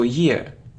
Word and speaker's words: year: So year, not year, not year, like ear, y and ear, year.